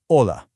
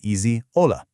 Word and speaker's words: hola: Here's the most famous Spanish word of all: hola. Now notice the golden rule here. The letter H, which is called H in Spanish, is completely silent.